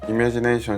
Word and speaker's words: Imagination: Actually, I find it more comfortable to call it "Imagination" (English pronunciation). Back when I wasn't that interested in perfumes, I said, "Could I try a spray of Imagination (English)?" And the staff replied, "Yes, I'll let you try 'Imagination' (French pronunciation)."